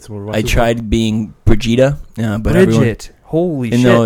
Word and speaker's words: Brigitte: They pronounce it Brigitte?